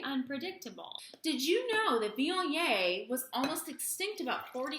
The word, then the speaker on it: Viognier: That's just us trying to pronounce Vee-on-YAY. Say it with us. Vee-on-YAY. One more time. Vee-on-YAY.